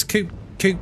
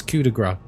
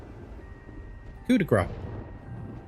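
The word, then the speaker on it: Coup de Grâce: If anyone says c coup, you need to put them right. Why? Cuz that's not how you pronounce it. It's cudigra. It's French. No, it even has a even has an accent over the a kudigra. As a Frenchie, it hurts me hearing gr.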